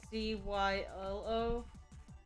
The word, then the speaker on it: Zielo: spell it wrong like technically silos name I spell it uh z IL o but it's supposed to be pronounced CYO but I've just never